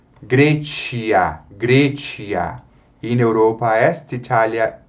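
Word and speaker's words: Graecia: Grecia. Veja, ditongo a E nós pronunciamos com a vogal E.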